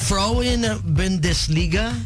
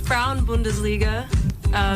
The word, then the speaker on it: Frauen Bundesliga: Did I murder the Frauen Bundesliga? You absolutely butchered it, but that's okay. Everyone does. Okay, how was it? It's the Frauen Bundesliga, Werder Bremen.